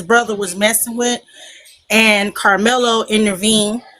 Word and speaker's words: Karmelo: Carmelo.